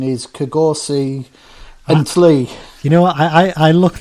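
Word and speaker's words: Kgosi Ntlhe: It's pronounced Kosi Unclair. Right. Which I know is baffling, isn't it? Because it looks nothing like that when it's written down.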